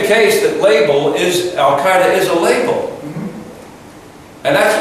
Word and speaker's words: Al-Qaeda: But if you're going to speak English to another person in English who speaks English about this organization, the pronunciation would be Al-Qaeda.